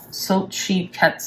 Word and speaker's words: Xochitl: So you pronounce her name Xochitl.